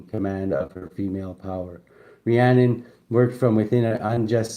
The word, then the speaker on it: Rhiannon: Um, inner strength meandon pronounced Rian or hean is a Welsh lady of the other world whose name means great queen.